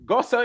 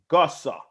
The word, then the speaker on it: Guhso: it's the gossip spell sir gossa is spelled g-u-h-s-o gossa so everybody comes by